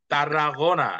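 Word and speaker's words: Tarragona: হ্যাঁ ত এর মত যেমন আমরা সেটাতে লিখি এটা কি হবে তরতিয়ানা না না তরতিয়া না এটা হবে কি তারাগোনা হ্যাঁ তারা গোনা তারা গোনা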